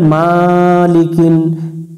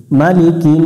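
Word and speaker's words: مَلِكِ: গুন্না করে নিব মালিকিন অনেকজন এখানে ভুল করে মালিকিন এই হারকাতটাকে এটা মাঠ বানায় দিয়ে দেয় খারা জবরের মত উচ্চারণ করে দেয় নাই আমরা এখানে দ্রুত উচ্চারণ করবো মালিকিন নুন আলিফ জবর না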